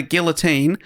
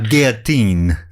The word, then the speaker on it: guillotine: Guillotine. Doge. I don't think it's you pronounce the L's, Dave.